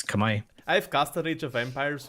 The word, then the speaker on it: Khmer: I thought it was Khmer for the longest time. People tell me it's Kamai.